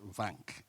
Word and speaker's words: van: very much um so he was uh mispronouncing my company name it's van so van um is a play